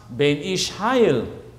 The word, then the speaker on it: Ben Ish Hai: It's pronounced Ben Ish Hayil.